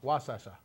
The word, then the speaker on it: Wasescha: Community College President Wasescha. Close. Wasescha. Oh, I have to let's practice. Wasescha. Wasescha. It's wa. No, Wa. it's not woo, it's wa. Wasescha.